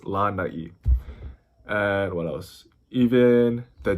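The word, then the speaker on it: lānai: It's always going to be over a vowel, and it's to elongate it. So that's why it's not lanai, it's lanai.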